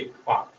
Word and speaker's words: Palk: PALK, पाक. Spelling का ध्यान रखना है, PAL इसमें साइलेंट है, हो गया पाक स्ट्रेट.